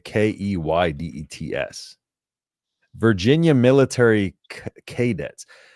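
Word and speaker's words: Keydets: But it's not spelled like cadets. It's K E Y like D E Yeah. K E dets, but it's a Virginia Military Key dets.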